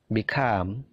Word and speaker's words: become: gitu ya ask avoid become begin jadi perhatikan stressingnya stressingnya punyanya come punyanya gain punyanya leave jadi stressingnya itu di suara yang kedua avoid become begin believe